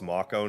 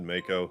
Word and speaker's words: Mako: marco smells pretty bad here i know it's pronounced mako now but i always said mako so i have a bit of a tomato